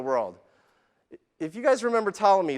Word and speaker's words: Ptolemy: For those of you that don't remember Ptolemy, the P is silent. Ptolemy was a 2nd century astrologer who believed that the earth was the center of the universe.